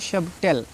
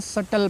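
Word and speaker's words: subtle: से बच्चे ऐसे हैं इसको पढ़ते हैं सबटल ठीक है इसको भी सबटल नहीं पढ़ना है इसको सटल पढ़ना है क्यों क्योंकि टी से पहले बी आया है तो साइलेंट हो जाएगा यह आपको याद रखना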